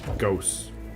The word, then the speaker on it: Gauss: It's pronounced with the ooh. Gauss.